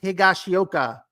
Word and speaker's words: Higashioka: Higashioka. They just call him Higgy, don't they? Or something like that. But yeah, he had a good game for the Rangers. Prior to Sasaki leaving the game, after Higashioka's 2 hits, there was nothing else happening for